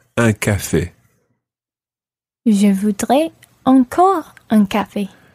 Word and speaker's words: un café: And then you make your mouth really wide. Un café. Un café.